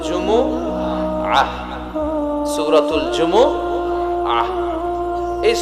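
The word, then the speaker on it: جمعة: বলে ফেলে জুমা জুমা আসলে আরবিতে শুদ্ধ উচ্চারণটা হচ্ছে জুমু আহ আহ সূরাতুল জুমু আহ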